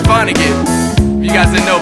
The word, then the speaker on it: Vonnegutt: break your hip hopper into why and it's pronounced Vonnegut you got the no 1 ounce Vonnegut's the